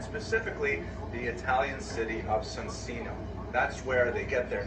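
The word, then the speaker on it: Soncino: I wonder, how is that pronounced in Italian? Does anyone here know Italian? Is it Sonsino? It sounds the same? Because he knows your hand. That's it. Sonsino, there you go.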